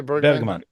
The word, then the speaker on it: Bergman: Ronin Bergman Bergman uh how do you say it Bergman you say Berman yeah Berman runin Berman in